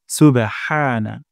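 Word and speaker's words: سبحان: না হয় হা সুবেহা হা হবে না হা সুবহানা সুবহানা তারপর রব্বিয়াল যেন এমনটা না হয় রাব্বিয়াল র মোটা করে উচ্চারণ করতে হবে রব্বিয়াল সুবহানা রব্বিয়াল তারপর আজিম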